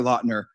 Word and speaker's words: Lautner: And Taylor Lautner, that is how you say it.